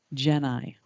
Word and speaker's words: Geni: The first thing I want to say, because I've been asked it so many times, is how do you pronounce the name of your company? Geni.